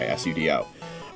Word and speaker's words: sudo: Spelled the same way, S-U-D-O. It's actually an abbreviation, I believe, for super user do. So really, it should be pronounced sudo, the way that unenlightened people pronounce the word Sudoku.